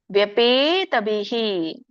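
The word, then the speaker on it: ವ್ಯಪೇತಭೀಃ: ತಪ್ಪಿಲ್ಲ ಅದು ಗೋರಂ ಈದರಮೇದಂ ವ್ಯಪೇತಬಿಹಿ ಅಲ್ಲಿ ನೋಡಿ ಮಧ್ಯದಲ್ಲಿ ವಿಸ್ಕಾರ ವಿಸರ್ಗ ಇರೋದ್ರಿಂದ ಬಿಹಿ ಅಲ್ಪವಾಗಿ ಹ ಉಚ್ಚಾರಣೆ ಮಾಡಬೇಕು ವ್ಯಪೇತಬಿ ಪ್ರೀತಮನಃ ಇಲ್ಲಿ ನೋಡಿ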